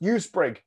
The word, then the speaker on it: EuSpRIG: It's pronounced USPRIG.